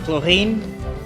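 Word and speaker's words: Clorinde: It should be Chlorine because she has an E at the end. And usually it is pronounced with words like that is pronounced with an N. So it's Chlorine.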